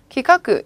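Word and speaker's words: 企画: 음독해서 기카크 이렇게 읽어주시면 되고요.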